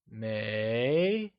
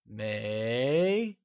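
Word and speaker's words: 没: you try and say Mae it is said with a mid rising tone like Mae good work let's move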